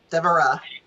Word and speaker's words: Devara: Devara. Devara. Okay, great. Yeah, Devara. Devara. Okay, emphasis on the Egyptian Ra.